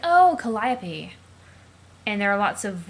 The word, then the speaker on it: Calliope: her Trollsona's name is Calliope, but the actual Greek muse for whom she's named is pronounced Calliope.